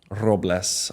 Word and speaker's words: Robles: Robles, ROBLES.